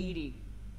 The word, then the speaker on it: EDI: specific inquiry your name what does it mean Ed Ed is the phonetic pronunciation of e okay that is an acronym